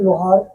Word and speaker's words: लोहारा: उन्होंने लिखा था कि LOHARA का हिंदी लोहार की जगह लोहारा पढ़ा जाए, क्योंकि उन्होंने कहा कि इसमें कुछ स्पेलिंग मिस्टेक हो गई है, इसलिए इसको लोहारा पढ़ा जाए।